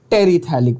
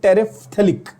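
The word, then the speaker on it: terephthalic: बोलते, उसको हम लोग टेरिथैलिक बोलते हैं। क्या ये क्लियर हो गया? कोई पूछेगा टेरिथैलिक, या इसका actual pronunciation should be टेरिफ्थैलिक। टेरिफ्थैलिक, द PH is pronounced फ।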